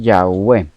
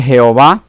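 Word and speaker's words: Yahweh: que pareciera ser que lo más acertado en pronunciación lo más cerca a esa pronunciación es ya v ok -definitivamente jehová no puede ser la pronunciación originales es imposible cuando entremos en eso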